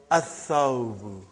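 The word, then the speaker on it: الثوب: So, brother, whenever there is a sun letter, you will not pronounce lam.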